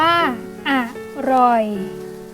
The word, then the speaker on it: อร่อย: อ่าน ว่า ปลัด อร่อย อ่าน ว่า อ่ะ อร่อย Alarm อ่าน ว่า